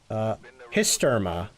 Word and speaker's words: Hysterma: Hysterma. The H is silent.